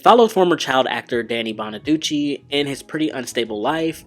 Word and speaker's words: Bonaduce: The next show is Breaking Bonaduce, and is that how you pronounce it? Bonaduce? Or is it Bonaduce? I always forget how to pronounce his last name. I couldn't walk, I couldn't keep my balance, I slurred really badly, I couldn't remember anything. Danny Bonaduce is that. It's Bonaduce. Okay.